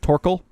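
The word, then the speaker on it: Thorkell: Torkel. Yeah. He's fighting that guy. Well, it's like written Thor, but it's pronounced Tor.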